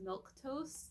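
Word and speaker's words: milquetoast: and that word was milk toast. Like it's spelled Milqueatoast. Like I've never heard that word in my life, and had no idea what that meant at all.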